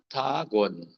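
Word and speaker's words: bonan: vejam Na expressão bagon Olha a pronúncia bagon não nalizar né bom dia e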